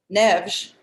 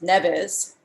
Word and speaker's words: Neves: who co-opted other cultures luigi n neves which americans pronounce nevis from the beginning couldn't